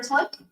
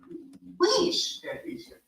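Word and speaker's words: Tlich: Tick, how do I pronounce it? Leash.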